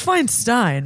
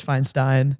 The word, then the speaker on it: Feinstein: looked like Dad it's fine Stein right I always say Finestein but I think it's Feinstein Feinstein yeah it Rhymes I'm just trying to